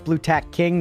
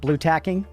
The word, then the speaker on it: Blu-tack King: Cuz it's Bluttack King, not Bluttacking.